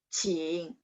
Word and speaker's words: 请: Q bacanya CH. 请.